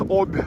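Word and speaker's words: Обь: Yes, in Russian language sounds like Ob, but I guess you pronounce it as Ob because you guys don't have the soft sign in your alphabets. But here it's Ob, where in the end of B the soft sign, and that means you need to pronounce Ob as Ob.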